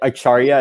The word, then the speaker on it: Acharya: Is it Acharya? Is that how you pronounce it? Yeah.